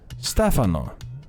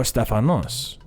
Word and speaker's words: Stefano: right here my name is not Steph I always say my name is Steph but my name is Stefano or Stefanos I personally don't care